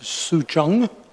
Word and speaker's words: Sucheng: Certainly, this group from the city in China, and it's pronounced Sucheng, is the way I listen carefully on their pronunciation.